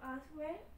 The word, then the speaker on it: answer: To answer any more questions. Okay, W, silent, you don't pronounce it. Answer.